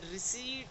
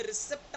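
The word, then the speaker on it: receipt: जैसे आपका रिसीट है, आर ई सी ई आई पी टी, तो इसको हम रिसेप्ट नहीं बोलते, इसको रिसीट बोलते हैं, राइट।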